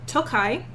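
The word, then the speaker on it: Tokaj: because they're all babies it is from tokai which is spelled t o k a j sometimes there's an eye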